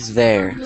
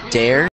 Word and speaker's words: there: was with this word there so it sounded like you said dare as in d e r but you need to say there as in the yeah there wait what